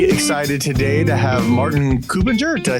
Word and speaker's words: Kuppinger: If it's about the correct pronunciation, it would be Martin Kuppinger, but most struggle with that, so just go ahead the way you prefer.